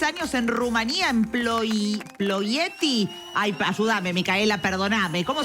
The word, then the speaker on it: Ploiești: Una vez más, ¿cómo es la pronunciación? Ploieti. Ploieti. ¿Verdad? Es Ploieti, correcto, ¿no?